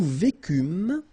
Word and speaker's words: vécûmes: Nous vécûmes, final S not pronounced, vous vécûtes, same thing here, ils vécurent,